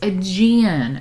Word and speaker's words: Aegean: Pronunciation. Aegean. Aegean. Oh, it's Aegean.